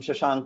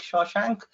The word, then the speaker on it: Shashank: My name is not pronounced in any way like Shawshank, but it's an easy way to remember it.